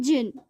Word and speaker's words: djinn: फिर मतलब जिन, जिसे हम जिन कहते हैं. ठीक है, जिन. ठीक है, जिन. ये जो डी है साइलेंट लेटर है.